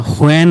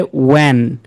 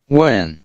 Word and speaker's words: when: হোয়েন এটা না, এটা হচ্ছে এইচটা সাইলেন্ট লেটার, এই উচ্চারণটা হবে ওয়েন।